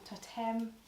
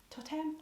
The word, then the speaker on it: Toteme: This is the leggings from Toteme. I'm sure that's how you pronounce it. Toteme? Toteme. Toteme.